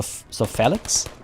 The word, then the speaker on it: Felix: So in Felix, the E should sound like in Hector. So Felix?